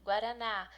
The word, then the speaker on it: guaraná: Guaraná é a sílaba mais forte, não é a Guaraná. A Guaraná é a mais forte, é a última.